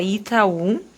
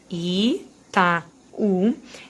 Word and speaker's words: Itaú: por exemplo, a palavra Itaú, que eu já separei a sílaba aqui para vocês observarem, Itaú. Essas duas aqui são vogais, o A é sempre vogal, e esse U é forte, o que transforma ele